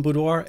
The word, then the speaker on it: boudoir: setting of its definition budoir is a French word pronounced as budo and it is referred